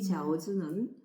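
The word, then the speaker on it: 饺子: 아울러 만두의 발음이 지아오즈거든요. 이 지아오즈는 신구 교차의 의미를 지닌 교자.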